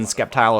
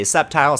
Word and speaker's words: Sceptile: Also, the C in Sceptile is silent. I like saying the C, though. We can say Sceptile, Sceptile.